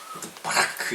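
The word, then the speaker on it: בָּרַךְ: 발음할 때는 바라크 이렇게 해요. 바라크. 버락 오바마하고는 전혀 상관없는 오늘 집에 가면 혼나겠다.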